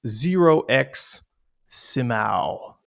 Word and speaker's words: 0xsimao: My my guest today is Zerox Simau.